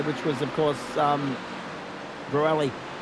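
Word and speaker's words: Bruxelles: Turn nine, I I should say, which was of course um Brueli. B R U X X is silent, I think. Bruelli E L E S.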